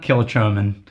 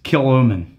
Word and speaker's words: Kilchoman: a couple letters yeah that's gaic you don't pronounce though kill chman yeah it's not kill chman it's kilman the customer is always right except for when